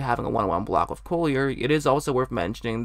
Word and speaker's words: Collier: much hockey because I keep wanting to call him Coulier I know that's not how it's pronounced but I just that's